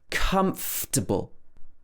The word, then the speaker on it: comfortable: Another one that a lot of people get wrong, comfortable. This is because we miss out a lot of the letters in this word. We miss out a lot of the syllables. This should be comfortable. So sometimes it could be comfortable, comfortable. But a lot of people would make it even shorter. They would say comfortable. K-a-m-f-t-a-b-l. So we miss out the in the middle.